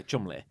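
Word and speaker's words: Cholmondeley: but it's Call pronounced it Chumley. yeah, Chumley.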